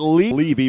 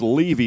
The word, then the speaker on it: Levy: Each team touching the ball at Levy. We were saying Levy, so it's Levy, the pronunciation on that.